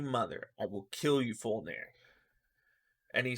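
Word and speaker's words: Fjölnir: Uh, uh, Fulnir, Fulnir. That's how you say it. You don't use the J.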